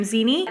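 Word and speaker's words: Xeni: talking about one was zinnie that's how you say her name zeni this is the second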